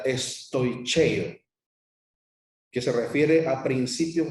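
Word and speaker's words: στοιχεῖα: más elementales, es una palabra griega que se pronuncia estoicheo, que se refiere a principios rudimentarios, a lo básico, se refiere al ABC, a los elementos más básicos de la doctrina.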